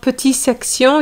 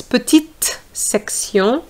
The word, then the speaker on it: petite section: It's not petit section, it's petite section.